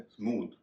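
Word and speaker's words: smooth: अगला शब्द है स्मूथ। इसमें भी टीएच आखिर में है, तो उसका उच्चारण थ के बजाय द हो रहा है।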